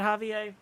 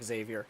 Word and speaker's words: Xavier: Sorry to hear that, Javier. Is that really how you pronounce his name? No, actually, as I'm looking at the address at the bottom, it's definitely Xavier.